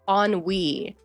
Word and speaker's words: ennui: The word, oh, wait, oh, you're saying the word is pronounced ennui.